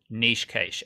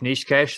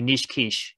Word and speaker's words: Niche Cache: Yeah, just quickly, my favorite mispronunciation of Niche Cache that I've heard in my lifetime was definitely Niche Quiche, which makes me hungry every time I think about that one.